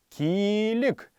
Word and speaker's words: килик: одежде килик килик килик как мы помним уже в словах мягкого мягко рядных словах к в данном случае как это слово буква л всегда будет произноситься мягко то есть иметь такой вот небольшой ь как бы который не отмечается на письме но должен быть запомним всеми нами килик это рубашка килик